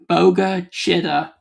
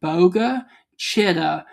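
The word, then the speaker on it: Bogue Chitto: It is also moving towards the area of um Boga Chida, Mississippi. And uh I really do want to thank you guys for telling me how to pronounce that. So Boga Chida, Mississippi and Brook Haven, also East Lincoln, Mississippi.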